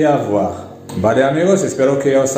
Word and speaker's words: avoir: En francés es avoir, avoir. La letra R en francés se pronuncia R, R, R, R. Entonces decimos R, avoir, avoir.